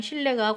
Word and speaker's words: 실내: 자, 다시 요즘 인기라는 전시답게 전시장 실내가 관람객으로 북적거렸다 그랬습니다. 자, 그럼 여기서도 마찬가지로 실내가 보이고 관람이 보이네요. 그죠? 자, 발음 어떻게 날 것 같아? 실내. 이렇게 발음이 나겠죠? 관람. 이렇게 발음이 되겠어요. 그래서 니은이 바뀌었어요.